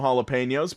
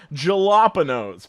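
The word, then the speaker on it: jalapeños: the nachos with no jalapenos pronounced with an H sound and the waitress rolled her eyes gave the biggest sigh and said it's jalopy nose pronounced with a J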